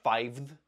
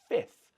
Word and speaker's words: fifth: Like in fifth, we're not saying fiveth because it's too difficult. So we change it to fifth.